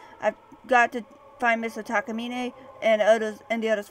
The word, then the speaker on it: Takamine: Plot of my next work, Junsei Takamine, or Takamine is how they pronounce it.